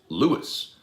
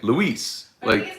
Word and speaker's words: Louis: goes by lewis and it's spelled l-o-u-i-s it's lewis um but erica some for some reason he was as if he's a as if he's a latino keeps saying luis he seems fancy to